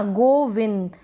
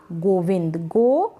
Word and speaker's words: गोविंद: लिए भी लिखेंगे ना गोविंद, विन। अगर आप देखेंगे तो आधे न का उच्चारण हो रहा है इस बिंदी के लिए, तो इसलिए हमने लिखा एन।